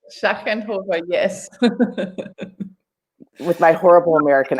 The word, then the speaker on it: Schachenhofer: Schachenhofer, yes.